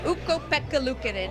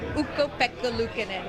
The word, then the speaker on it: Ukko-Pekka Luukkonen: Ukko-Pekka Luukkonen. Everyone, you can say it at home. Ukko-Pekka Luukkonen.